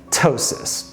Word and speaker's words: ptosis: The medical term for that, ptosis. Don't pronounce the p.